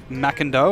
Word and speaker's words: McIndoe: And I've just got a correct pronunciation on what I've been saying. McIndoe is now McIndoe, and I'll trust this lady because she's got the same last name, so we appreciate that.